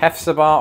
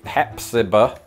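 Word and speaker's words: Hephzibah: a listen episode Georgia I was wrong on two counts that second H is meaningless Hep siba and definitely don't elongate that final vowel as if you are a sheep there's no bar it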